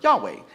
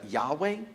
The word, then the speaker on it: Yahweh: And you would maybe pronounce it as Yahweh, but the way they would have pronounced it wouldn't have been that way because it didn't have vowels. And so it would have been pronounced more like a breath, more like Yahweh, Yahweh, Yahweh.